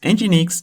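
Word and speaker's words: Nginx: Engineix is a popular open-source web server that is used as reverse proxy content cache and load balancer.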